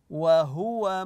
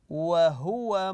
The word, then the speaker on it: وهو: جدا وهي سهله لكن احيانا لا نتم الضمه في حرف الهاء خاصه اذا كان معها واو وهو او فهو ننتبه للضمه على حرف الهاء وهو مؤمن وهو مؤمن ننتبه لضمه هنا نقويها في القراءه الان دوركم انتم في